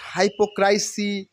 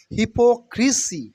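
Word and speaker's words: hypocrisy: energy energy মানে শক্তি নট হাইপোক্রাইসি অথবা হিপোক্রাইসি নো it will be pronunciation only হিপোক্রিসি হিপোক্রিসি হিপোক্রিসি হিপোক্রিসি mean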